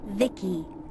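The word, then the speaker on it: Vici: transistors by the way i'm v-i-c-i pronounced vicky my creator was bibi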